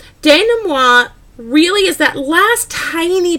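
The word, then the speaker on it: dénouement: about is very fancy it's a French term and it looks like development but it is pronounced Dana moi Dana moi really is that last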